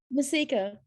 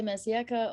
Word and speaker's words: Mercieca: Mercieca. Mercieca, really? I would not have said that. No, it's like you can say Mercieca or Mercieca, depends. It's a Maltese surname.